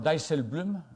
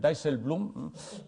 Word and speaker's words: Dijsselbloem: las otras tres instituciones, el señor Dijsselbloem, lo he dicho bastante bien, Dijsselbloem, el embajador de los Países Bajos siempre, Dijsselbloem, yo creo que soy el único madrileño que pronuncia Dijsselbloem bastante correctamente.